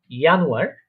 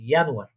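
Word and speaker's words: Januar: আপনি আমার সাথে সাথে প্রোনাউন্সিয়েশন করবেন, আমি একবার বলবো, আপনি আমার সাথে ওটা বলার চেষ্টা করবেন। ইয়ানুয়ার মানে হচ্ছে জানুয়ারি।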